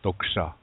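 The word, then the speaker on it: tókša: and some people write it as a D but that's incorrect - because it's not dull if you say it with a D it's a dull yeah but no what we want is a sound between toe and dole and that in between sound is stole it's in it's in the middle yeah Daksha normally we write that with a line over the tea Daksha Daksha I care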